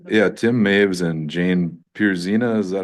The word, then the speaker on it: Pierzina: Yeah, Tim Maves and Jane Pierzina, is that how you pronounce her last name?